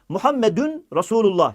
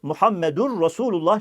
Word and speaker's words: Muhammedur resulullah: Telaffuz hatalarına gelince değerli kardeşlerim la derken uzatmak gerekir. Birincisi bu. La diye uzatacağız. İlahe illallah değil. İllallah. Orayı da uzatacağız. Muhammedün resulullah şeklinde söylenebilir ama en doğrusu Muhammedur resulullah şeklinde söylenmesidir.